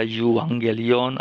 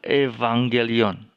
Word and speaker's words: Evangelion: Injil Evangelion artinya Injil ada yang membaca jiwangga Liona ada membaca ewanggelion dan sebagainya yaitu kurang tepat cara membacanya cara membaca yang benar adalah Evangelion Evangelion artinya angle dari katanya